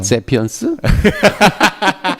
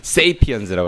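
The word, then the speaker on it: Sapiens: 영어 아니에요. 세피언스? 세이피언스라고 합니다. 네, 세이피언스.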